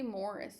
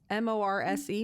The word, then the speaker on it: Morse: I say Morris. Isn't it Morris? M-O-R-I-S? M-O-R-S-E, Morse?